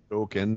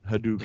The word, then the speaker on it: Hadouken: you put out it's pronounced Ryu instead of Ryu. Hadouken, not Hadouken.